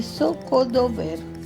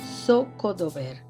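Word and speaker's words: Zocodover: En la plaza de Scodober. La plaza de Socodober, el corazón palpitante de Toledo.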